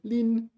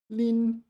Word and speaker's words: 拎: Yeah, Lin. Okay, first tone. Lin. Been getting that wrong for a while.